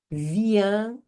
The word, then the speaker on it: viens: Je viens de. Je viens. Viens. A pronúncia vem até aqui, ó. Viens. Viens. Não falo o S final.